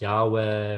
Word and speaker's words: Yahweh: the he it's four letters sometimes you'll hear pronounce Yahweh or spelled YH VH um in order to